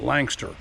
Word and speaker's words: Lancaster: Um they pronounce it Lanster, that three syllable capital uh seems to only have two syllables there.